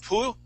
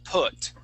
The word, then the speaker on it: put: Instead of poo, we want to say put. It was all put. Is it a short or a long vowel? It's a short. Sound? It's a short vowel.